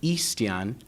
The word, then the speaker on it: Ixtian: my first name is ixtian and my last name is Gutierrez in Spanish it's actually eastian which is similarly pronounced to Christian in Spanish it's a very difficult